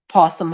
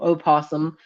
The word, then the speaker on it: opossum: Possum Hollow, Opossum, however the fuck is pronounced. I say possum, but some people say opossum. I'm just like, whatever. I thought the O was silent.